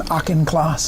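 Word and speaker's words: Auchincloss: Aenclauss.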